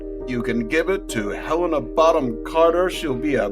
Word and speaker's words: Helena: It's Helena. Yeah. And if anybody knows about name pronunciation, It's me.